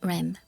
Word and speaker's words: REM: ADM and REM. Pronounce it Adam and Rem.